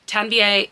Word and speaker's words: Tanvi: Tanvie is how you pronounce her first name.